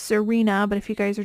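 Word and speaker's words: Xirena: great of a brand it is it is pronounced Serena but if you guys are just listening and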